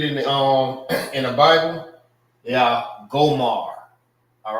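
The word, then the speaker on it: Gomer: And their name, Gomar, is pretty much the same as the Hebrew name. All right. The same way how you say it in Hebrew, it's Gomar. This is Gomar and this is Gomar.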